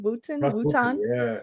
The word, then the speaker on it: Wooten: at this russ wooten is that how you say his name wooten yeah yeah yeah oh sensational truly